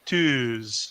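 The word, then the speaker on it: tűz: but we pronounce it twos so you actually have to hold the uh a little bit longer if it was just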